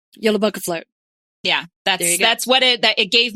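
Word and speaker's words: Jólabókaflóð: So I'm going to Google the pronunciation. Yeah, it doesn't do you good to Google the word in Icelandic. Jólabókaflót. Jólabókaflót.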